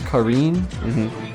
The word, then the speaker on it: Karin: I also don't know if I ever say her name right because the game says Karine, but it's also just Karen.